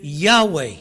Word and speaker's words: Yahweh: Now, there are no vowels, and therefore no one can pronounce the name of God. इस करके परमेश्वर दा नाम कोई इंसान ਨਹੀਂ ਲੈ ਸਕਦਾ ਹੈਗਾ। Later vowels were put in and therefore we say Yahweh ਬਾਅਦ ਜਦੋਂ ਥੋੜੀ ਅੰਗਰੇਜ਼ੀ